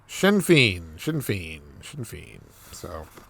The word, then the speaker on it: Sinn Féin: Pronunciation. Here we go. Sinn Féin. Sinn Féin.